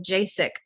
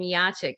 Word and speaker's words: Jacek: We've been calling him Jacek over the years. It turns out we pronounce his name Jacek.